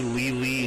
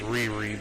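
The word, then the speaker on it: Lei-Lei: glad it's not shinika and finally SEO AKA leely in Japan well actually it's pronounced Riri but uh I'll leave a link in the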